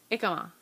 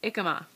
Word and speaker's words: jicama: I know who you are, but thank you for telling me that the J is silent, and I just messed it up again. But ikama and avocado.